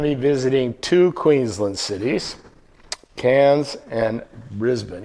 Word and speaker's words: Cairns: So tonight we're going to be visiting two Queensland cities, Canes and Brisbane. Even though it's there's an R in there, you don't pronounce the R. It's Cans.